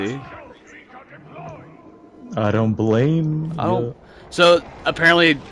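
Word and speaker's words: Blame!: So, apparently that's also like an Americanization cuz the manga is called blame. That's how it's spelled. But apparently, according to the manga, it's supposed to be pronounced blam, but that sounds stupid.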